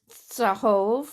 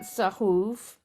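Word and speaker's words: צָהֹב: I just wanted to say that mine says Sahov, not Sahuv.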